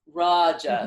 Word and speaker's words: Raja: right so um raaj Raja yoga is a long ah it's Raja that means king and rajas the the Guna is a short a okay there actually two